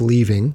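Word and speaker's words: Lee Ving: like her here there's leaving i am pronouncing his name correctly it's leaving he is the blackmailer mr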